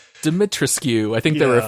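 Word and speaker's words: Dimitrescu: Yes, you do not pronounce the U. Apparently it's a silent U.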